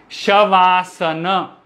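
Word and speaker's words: शवासन: is like asana so it is made of two words shava and asana shavasana once again tell me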